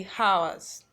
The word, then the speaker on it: hours: as you don't see house the h is silent okay as days weeks